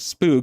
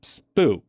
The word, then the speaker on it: Spoo: That's what we used to call it was Spoo cuz it's SP and then 2000 was 00, so it's Spoo. Exactly how it's spelled.